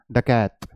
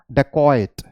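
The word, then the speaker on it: dacoit: हम अगर हम इंडिया में बोलेंगे, ठीक है, तो हम इसे कैसे बोलेंगे, डकैत, राइट, डकैत। बट the pronunciation is डकॉइट, डकॉइट, one more time, डकॉइट, okay.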